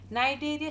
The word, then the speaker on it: Cnidaria: ठीक है, दूसरा नाम है नाइडेरिया, सी से स्टार्ट होता है, CNIDARIAS। नाइडेरिया सी साइलेंट है।